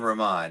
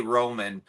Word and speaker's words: Raman: Raman we did well that's his name Raman I say Roman because it's easier well it's easier to say and other people understand it better uh but no his real name is Raman that's how you say it uh but most